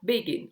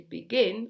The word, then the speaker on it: begin: Exemple, begin, on ne dit pas begin, on dit begin, on insiste sur la deuxième syllabe.